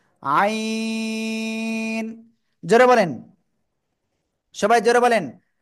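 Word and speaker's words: عين: এই অক্ষরের নাম কি আইন এ অক্ষরের নাম কি সবাই জোরে জোরে বলেন তো অক্ষরের নাম কি হ্যাঁ গলার ভিতরে আওয়াজটাকে একটু চেপে ধরে চার আলিফটা নিয়ে উচ্চারণ করতে হবে আইন জোরে বলেন সবাই জোরে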